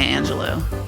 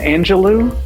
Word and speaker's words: Angelou: community and the collective past it's not Maya Angelo Maya Angelou not Maya Angelou is it Maya Angelou today's